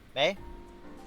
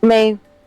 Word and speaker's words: Mie: Is that how you pronounce that, Mina? M-I-E? What was it? The M-I-E prefecture, Japan? Mei? May.